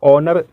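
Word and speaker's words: honour: क्या है हा है यहां पर हा को हम लोग प्रोनाउंस नहीं करेंगे हा यहां साइलेंट होगा ओनर प्रोनाउंस करेंगे आईटी मेंस होता है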